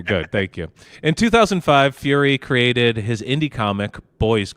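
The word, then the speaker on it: Furie: his last name correctly I think it's Fury the worst it is Fury yeah Matt fury it's not furry it's not Matt fur fur yeah okay maybe you is silent and it's fry I'm going to call him no I listen to an interview with him about this so I know it's Fury Fury okay good thank you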